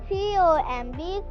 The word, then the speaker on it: comb: We'll present a role play on how to learn spellings with vowel sound and with silent letters. L-A-M-B, lamb. C-O-M-B, comb.